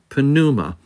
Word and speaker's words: pneuma: And yes, you do pronounce the pi, pneuma.